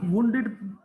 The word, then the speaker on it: wounded: Once बेटा, ये इसको वुंडेड प्रोनाउंस करते हैं।